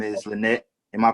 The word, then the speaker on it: Lynette: Her name is Lynette. Am I pronouncing your name right?